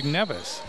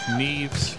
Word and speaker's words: Neves: Neves is spelled N-E-V-E-S, which you think would be Nevis, but it's pronounced Neves.